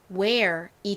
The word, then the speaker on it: wear: 자, 지금 이 단어의 경우에는 EAR이 air 소리가 나니까 우 소리가 나는 W와 합쳐지면 발음이 어떻게 될까요? 바로 where이 되죠.